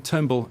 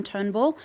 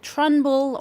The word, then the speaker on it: Turnbull: Adding insult to injury, though, Spicer, the Sydney Morning Herald reports that Spicer appeared to mispronounce the Australian Prime Minister's surname during that announcement on Thursday. Apparently, he called him Trunbull or Trumbull.